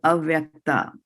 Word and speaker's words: avyakta: So avyakta, so we are starting it with an A, avyakta, right? Avyakta, right? Deha, like that. So there's an A, we are pronouncing it as an A.